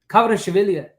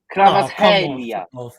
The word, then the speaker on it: Kvaratskhelia: He's checking the pronunciation of. Go on, show Google Translate. Go on then. Kvaratskhelia.